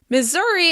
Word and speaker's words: Missouri: Missouri is stressed on the second syllable.